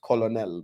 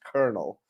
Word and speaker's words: colonel: taught us over here it's it's pronounced Colonel but then you find out it's pronounced colel I'm like isn't Colonel